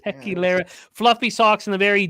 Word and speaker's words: Tequilera: When you had too much tequila, that's how you pronounce it. Tequilera.